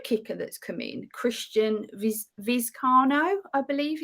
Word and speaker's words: Vizcaino: is the new kicker that's come in, Christian Vizcaino, I believe it's pronounced. Yes, Tristan Vizcaino, yep.